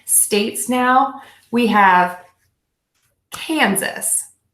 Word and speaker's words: Kansas: states now we have Kansas you can think of this as the word can suss Kansas Kansas Kansas you